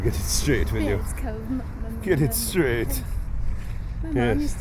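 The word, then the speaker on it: Baird: This is Beard's Cove. Oh, is that what it is? Beard's Cove. Yep. Spell it. B-A-I-R-D. So why'd you call it beard, like on a man's face?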